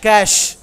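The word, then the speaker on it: cache: so these word very popular words generally we mispronounce these words so let us repeat first one is aive next cash it's not cashy and all cash memory next one monk Tom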